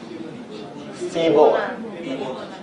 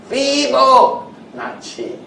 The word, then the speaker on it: Fibonacci: However you pronounce his name. Feeble. Feeble, right? Okay, so it's Italian, right? Sounds Italian. Feeble sounds like some name I can give my dog. Okay. Fibonacci. Correct pronunciation now?